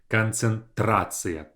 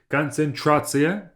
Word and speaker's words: концентрация: The English variation is tr, concentration, while in Russian it's just концентрация, трация. So tr versus tr. That's the main difference in those two. If you say концентрация, people will not understand you, okay?